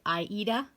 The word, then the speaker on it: Aida: And then I also wanted to mention the individual who said that the Aida is actually pronounced with a long E, which would be Aida.